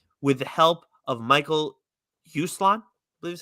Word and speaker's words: Uslan: from Stan's mind with the help of Michael Uslan, I believe is how you say it. Uslan, yeah.